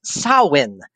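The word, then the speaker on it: Samhain: it's don't mess with my niece it's actually pronounced sawin as in like s s o Wen or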